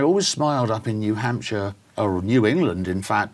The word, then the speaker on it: Hampshire: upset is is say Hampshire notice notice I said sure at the end in the UK we pronounce it sure so it's Hampshire okay Dorset sure not